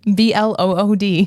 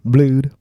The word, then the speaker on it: Blood: B L O O D. Nice. Okay. Blude. Blood. Spelled like blood.